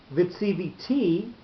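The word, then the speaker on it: וְצִוִּיתִי: So if vitsiviti, with the accent on the last syllable, you're turning it from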